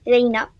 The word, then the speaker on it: Lina: Lina enfin ça s'était Lina prononcit Laina.